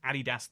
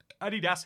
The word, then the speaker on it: Adidas: Fun fact, did you know Adidas is a German company? Das is a German word. It is pronounced Adidas. There it is pronounced Adidas here and it's pronounced Adidas in most of the world.